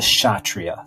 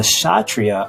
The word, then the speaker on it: Kshatriya: Right underneath the Brahmin caste is what's called the Kshatriya. That K is silent. So the Kshatriya are known as the warrior class.